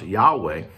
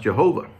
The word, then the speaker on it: Yahweh: think today is pronounced yahweh they used to think it was pronounced jehovah but more research and and uh work has been done you know the hebrews didn't have a j sound you wouldn't have a